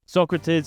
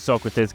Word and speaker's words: Socrates: Socrates is one of the first icons to come